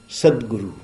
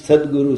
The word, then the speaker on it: Sadguru: Sadguru. And in English, Sadguru, sometimes it is sad guru. How do we know sad guru? Typical pronunciation.